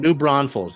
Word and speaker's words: New Braunfels: Is it New Braunfels? I remember he told me Mm. how to say it this past year. Your And guess is as good as mine. New Braunfels.